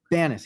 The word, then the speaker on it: Banias: brad is the national expert on what attorney benius or ban is how do you say your name right ben that's your good bannist yeah uh is the the one of the